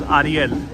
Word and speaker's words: Ariel: Japanese can pronounce my name correctly, at least it's the original pronunciation, which is Ariel, because my name is originally in Spanish.